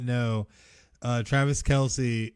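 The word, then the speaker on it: Kelce: not know uh travis kelsey his last name is not pronounced kelsey it's just kels what yes but he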